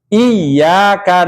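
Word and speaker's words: إياك: arahim Ayo emutan ya pengulangan dibacanya harus ditekan kalau tidak ditekan salah seperti lafaz Iya dibaca Iya iyaka na'budu Wa Iya kalau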